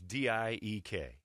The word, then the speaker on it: Diek: in red dresses uh their last name was d-i-e-k dyke right now i'd change the pronunciation that to diek because what steve harvey